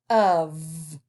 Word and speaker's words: of: uh like a u what do we hear the end of we hear a v so we say of and we expect to see a u and a v of but but you spell it o f is that just crazy